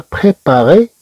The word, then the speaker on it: préparé: بريباري لو روبا كما لو فويون غوني a préparé le repas des petits.